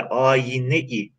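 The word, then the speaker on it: âyine: Şöyle, tabii ki günümüzde ayna diye telaffuz ediyoruz ama onun eski bir telaffuzu var. O telaffuzuyla okusak, görelim ayna değil de ayine-i devran, Farisi bir tamlama yapıyoruz.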